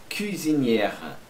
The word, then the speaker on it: cuisinière: E la cuisinière, cuisinière. Aqui, esse aqui é o E mesmo. Cuisinière, R. Você abre o E e já fecha no R. Não pronuncia o E no final.